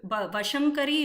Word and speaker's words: Vashankari: We should not sing Shankari Bhaktava Shankari Ma. So it's not Bhaktava is not right in the meaning. So Vashankari is what we need to pronounce when we sing the line also.